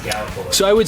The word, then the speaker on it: Gallipolis: It's pronounced Gallipolis.